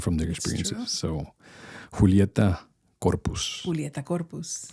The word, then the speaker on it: Julieta: A lot of people could not pronounce Julieta.